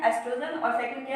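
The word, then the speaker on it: oestrogen: अब देखो ये ओ से स्टार्ट हो रही है स्पेलिंग, बट इसको हम बोलते क्या है, प्रोनाउंस क्या करते हैं, एस्ट्रोजन, और सेकंड क्या है, प्रोजेस्टेरोन हार्मोन।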